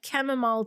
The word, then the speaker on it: chamomile: And I'm holding my cup of tea, my chamomile tea. Chamomile is the correct pronunciation.